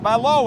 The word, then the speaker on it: Ballot: actually seen in person balow is that how you pronounce it that's right cuz when you read it it looks like ballot that's correct I think